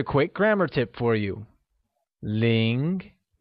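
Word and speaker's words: 零: grammar tip for you ling pronounced in a mid-rising tone has a lot of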